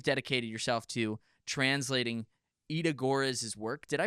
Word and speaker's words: Görres: and now you've dedicated yourself to translating Ida Görres' work. Did I pronounce her name correctly?